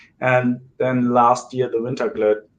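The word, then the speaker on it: Vinterglöd: I chose the Winterglöd. I hope I pronounce it right.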